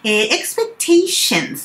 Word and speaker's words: expectations: Expectations ですね。T-I-O-N シャンでその前の A は E を入れると発音に深みが出まして expectations ですね。で、expectations と if がくっついて expectations if